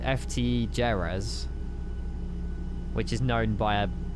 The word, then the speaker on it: Jerez: I have no idea where Jerz is. Oh, obviously it's in Spain. Oh, pronounced Herv. Oh, Herf.